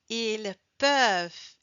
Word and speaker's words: ils peuvent: singulier alors Il peuvent Ah, ils peuvent et not il peuvent et pas il peu pronom parce qu'on doit prononcer la consonne automatiquement le e devient.